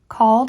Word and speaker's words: called: form that are presented they may be mistaken for words of two syllables teach that the e in both words is silent attention should be called